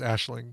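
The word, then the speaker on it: Aisling: she's awesome yes and she's Irish so her name is probably pronounced like a Schlage yeah I think I think it is called Ashling B like I think from from that Taskmaster season I think we finally learned how to pronounce it Claire can confirm but I think it's Ashling the only best part I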